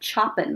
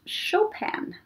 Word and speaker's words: Chopin: It looks like Chopin, right? Chopin. it's pronounced Chopin.